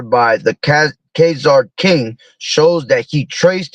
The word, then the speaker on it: Khazar: Poland, which derive from Khazar and or Sid, I guess, because I think that H is silent.